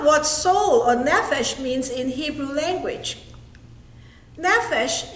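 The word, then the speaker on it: נפש: The original Hebrew word for soul is pronounced nephesh.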